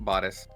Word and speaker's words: bodice: Is it bad or bodis? I don't know how to pronounce that. Bodis.